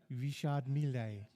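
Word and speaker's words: Richard Mille: running 16th in class I've told you the pronunciation is rishard M oh Richard Richard melee racing team so Richard Mele Richard melee all right fine rard M uh Beth also saying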